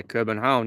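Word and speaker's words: København: isn't it does it begin with K Patrick pronounced hmm yeah Corbin home yeah I'd love to visit the pronunciation oh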